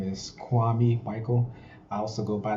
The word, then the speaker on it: Kwame: how are you doing everybody my name is kwame michael i also go by the name dark